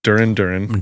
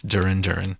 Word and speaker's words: Duran Duran: a good one so my my band uhuh Duren Duran dur are you hungry is right yes it's Duran Duran dur dur imagine if there was a band